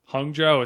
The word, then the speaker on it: Hangzhou: Hangzhou is how you say it.